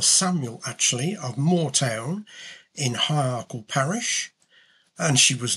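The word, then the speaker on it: High Ercall: And that stated that Henry was the illegitimate son of Mary Atcherley of it's pronounced High Arkle.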